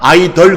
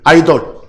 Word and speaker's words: idol: 거기에 제가 참고 이에 idol 영어 발음은 아이들이나 아이 덜 그럽니다 아이들 아이돌 물이 한국 10 발음은 아이돌이고 흔히 하는 말로 5 영어식 발음은 아이들 또는 아이들 그럽니다 그걸 우산 그래요 누